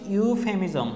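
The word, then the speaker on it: euphemism: তারপর হচ্ছে ইউফেমিজম, হ্যাঁ ইউ দেখো এখানে ইউ উচ্চারণ হচ্ছে কোনো ভদ্রভাবে শব্দ বলা।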